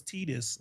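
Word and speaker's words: Tidus: Yeah, I always pronounced it Titus, but then they're like, "Oh, it's Tedis."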